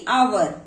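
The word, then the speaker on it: hour: Okay, यहाँ पर H क्या है? साइलेंट है, इसीलिए हम इसे क्या पढ़ते हैं? आवर, जो कि वोवल का साउंड कर रहा है, इसीलिए यहाँ पर THE को दी पढ़ा जाएगा, दी आवर। ओके, तो इस तरीके से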